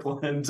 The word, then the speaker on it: Borland: all this together my last name it's it's pronounced Borland I know that's complicated so I'll give you